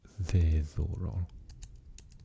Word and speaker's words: ddiddorol: So the word diddorol is fun. So we say ddiddorol. Maheen ddiddorol. It's fun. Maheen ddiddorol. Ddiddorol. Because D changes to double D.